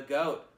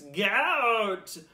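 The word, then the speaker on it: GAOAT: This cocktail is titled The GOAT, but there's a silent A in it, so it's G-A-O-A-T. And if you're adverse to silent letters, it's GOAT!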